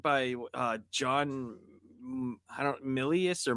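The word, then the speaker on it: Milius: I mean you you have uh what's a it was directed by uh John I don't Millius or Malias how do you say his name? Millius.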